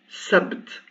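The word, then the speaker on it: سبت: Et ici, je prononce sabt. Sabt. Donc le sin avec sa fatha, sa. Le ba sans voyelle et le t.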